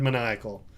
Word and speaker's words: maniacal: Think maniacal laugh. Oh, like... Maniacal devious? laugh. Like devious. Maniacal. Maniac. Oh! It derives from the word maniac. Does it? Yeah. It's spelled the same way. It's spelled the same way, but it's said differently.